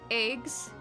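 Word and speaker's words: EGS: Eggs, and that is how it's pronounced, 4 AP consumed, enters the assigned eggs.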